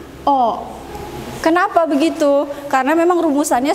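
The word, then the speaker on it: を: terakhir yaitu partikel-partikel walk ini dibaca hiragana adalah Wow tapi kalau partikel dia dibacanya Oh kenapa begitu karena memang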